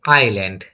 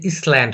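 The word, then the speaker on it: island: এল এ এন ডি আইল্যান্ড এটা কিন্তু ইসল্যান্ড হবে না কিন্তু আইল্যান্ড এস টা সাইলেন্ড যাবে হ্যাঁ আইল্যান্ড আইল্যান্ড অর্থ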